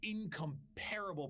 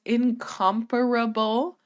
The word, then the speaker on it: incomparable: And their actions would be courtesy of the incomparable power and authority of the Inquisition, the zealots of the Okay, I hate to do this. I really hate to do this, guys. It's incomparable.